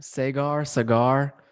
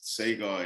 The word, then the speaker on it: Sagar: Sagar? It's actually pronounced two different ways. Sagar is how English people had been pronouncing English-speaking people, but it's of Indian origin and it's Saga.